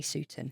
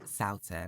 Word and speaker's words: Soughton: And the lovely Sutton. Hello. Have I said that right? Close. Go on, say it. Try again. Soughton.